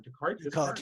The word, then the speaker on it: Descartes: You mentioned Descartes and about is I pronouncing his name right? Descartes, yeah.